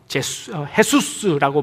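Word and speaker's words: Jesús: 그래서 그 남미 쪽의 발음으로 하면 헤수스라고 발음을 합니다.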